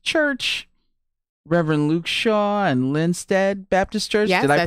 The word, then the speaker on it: Linstead: And they go to Reverend Keith King and Christian Tabernacle Baptist Church, Reverend Luke Shaw and Linstead Baptist Church. Yes, did I pronounce in Jamaica, that correctly? Linstead, yes.